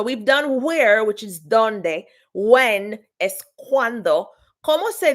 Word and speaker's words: dónde: So with donde, there's actually an accent on the O. All right. So donde, accent on the O.